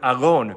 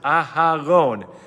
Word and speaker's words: Aaron: person would always say don't let it sound like Aron make sure you pronounce it aaron um just telling us